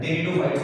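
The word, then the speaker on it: Pteridophytes: ठीक है, इसमें टी साइलेंट रहता है, तो टेरिडोफाइट्स बोलेंगे इन्हें।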